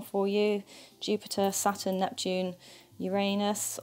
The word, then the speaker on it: Uranus: you jupiter saturn neptune uranus or i think we're now pronouncing it uranus because people like me